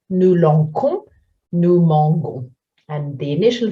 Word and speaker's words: lançons: it comes a C, the C becomes C, cédille before the letter O in the nous. So looking at a verb like lancer, we'll say nous lançons.